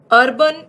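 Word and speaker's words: urbane: अर्बन, इसको तो pronounce करोगे अर्बन, और ये है हमारा अर्बेन। ई लग गया है तो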